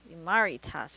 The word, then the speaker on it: Imaritas: Murray tests imari Tess imari Tas I think is how it's pronounced because she was in a inspired by the imari pottery so that makes sense maritas all right a